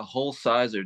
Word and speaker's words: Hulsizer: say your name yeah whole Sizer just like it's spelled like uh hul and then Sizer okay um so first